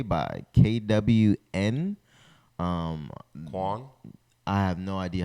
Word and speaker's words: KWN: Pronounced K-Yun. K1. K1. You see that? Huh? This? Yeah. No, up. Up. Oh, pronounced K1.